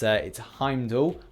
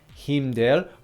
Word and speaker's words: Heimdall: Haha, that's a little micro joke there for the pronunciation thing. It's Heimdall, or Himdel, or Hemdek in the center.